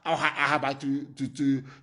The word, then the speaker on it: Ahaba: They stayed at Asaba, Ahaba to pronounce the correct name, and they came to Omai in Ibeku, and we harbored them.